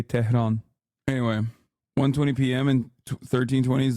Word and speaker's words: Tehran: Stop saying the H in Tehran so heavily, we barely pronounce the H. Well, I'm Turkish, so I say Tehran.